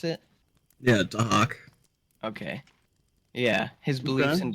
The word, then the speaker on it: Dahak: How do you pronounce it? Yeah, Dahak.